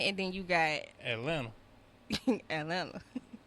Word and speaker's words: Atlanta: Atlanta. You don't even pronounce the T. Right, you don't say the T at all.